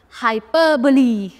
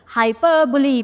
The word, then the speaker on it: hyperbole: Next, hyperbole. Hyperbole, पहले इसका pronunciation याद रखना, hyperbole, hyperbole, hyperbole.